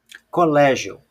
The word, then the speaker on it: colégio: Por exemplo, colégio. Colégio. Olha aqui, a sílaba tônica aqui é o lé.